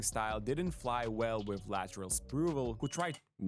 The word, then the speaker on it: Latrell Sprewell: years since Latrell, and it's Latrell Sprewell. I got y'all cuz y'all want to always correct me and you feel me? I know y'all saying it wrong at the crib.